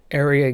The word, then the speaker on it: Aeria: then owned, operated by Area Games, that's spelled Aeria, I believe, and then sold to Gamigo, and now operated by Fox.